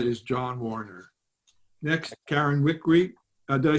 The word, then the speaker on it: Wickre: Next, Karen Wickre.